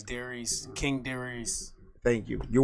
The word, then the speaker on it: Darice: Like you're writing a letter to Reese. You'd be like, Dear Reese.